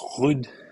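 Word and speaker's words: Ruud: Is this Casper Rudd? No, he's like Norwegian. Oh, of course. My bad. It's pronounced Hood.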